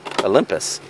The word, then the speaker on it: Olympus: this the Battle of Olympus Olympus man that should be pronounced pus right Olympus not Olympus Olympus yeah here we got